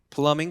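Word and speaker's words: plumbing: B가 발음이 안 납니다. 플러밍 컴퍼니.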